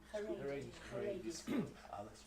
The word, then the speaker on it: Haredi: It's a letter from a solicitor on behalf of someone from a parent at a, how do you pronounce it? Charady? Haredi school.